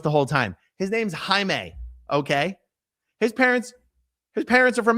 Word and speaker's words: Jaime: His name's Jaime.